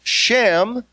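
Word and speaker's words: שם: term for Renown is shin me which is pronounced Shem which literally means name they are men of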